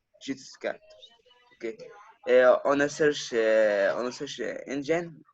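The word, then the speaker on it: Xiuhtezcatl: Enter his name and an Aztec word pronounced Chitscat.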